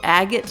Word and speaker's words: Agate: But as a kid, I always pronounced it Agate Village. And so that's how I pronounced it during the recording. But I know that's wrong. I just pronounced it wrong as a child.